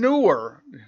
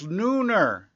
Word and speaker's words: Neuner: And they are from Rand Neuer. Neuner. I don't even know how to pronounce his name. I thought it was Neuer, but now that I look at it, it's Neuner. Like a Nooner.